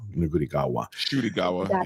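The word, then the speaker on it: Ncuti Gatwa: Shooty-gawa, yeah. Is it Shooty-gawa? It's Shooty, yeah. But the N is silent, and there's an H that should be there that isn't.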